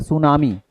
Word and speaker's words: सुनामी: इसको हम क्या पढ़ेंगे? सुनामी। इसे पढ़ेंगे सुनामी। हमने इसमें टी साइलेंट है।